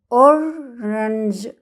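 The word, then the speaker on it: orange: جربوا معايا كده، اورنج، اورنج، اورنج. الاي والاي سكتوا، ما نطقناهمش خالص، ولا قلنا اورانج ولا قلنا اورانج، قلنا اورنج، اورنج، اورنج يعني برتقالة، اورنج.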